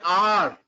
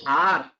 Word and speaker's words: hour: An hour. Here we are using an hour, not a har.